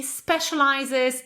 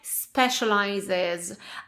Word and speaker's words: specializes: So, the answer would be well my company specializes in IT solutions. And two pronunciation tips. Okay, first of all, I hope you remember it's company, not company but company. So, my company and now specializes.